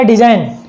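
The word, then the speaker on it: design: जी आ जाता है तो वहाँ पर जी साइलेंट हो जाता है, ठीक है। ऐसे हो गया डिजाइन।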